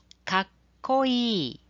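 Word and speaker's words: かっこいい: So notice the short pause between the ka and ko sounds. This is called a double consonant. We are going to learn in the next lesson. But just look at the W-E, E. So you say kakkoi.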